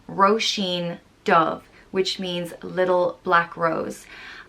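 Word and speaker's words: Róisín Dubh: so they disguised it as a woman's name roshin dove which means little black rose and so roshin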